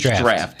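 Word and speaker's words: draught: myself alone to undertake now it's spelled like draw but me draft yeah which I didn't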